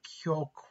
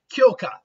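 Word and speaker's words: Kyōka Suigetsu: Kyoka. There we go. The problem is I'm adding like extra syllables. It's really just Kyoka Suigetsu.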